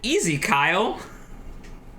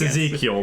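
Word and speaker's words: Ezekyle: Or, as I like to pronounce it, Easy Kyle. It's Ezekiel, but yes.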